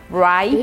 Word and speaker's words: write: Write, escrever. Write é escrever. A letra W, gente, é muda, você não vai pronunciar, tá? Você não vai falar o write, não é assim que fala.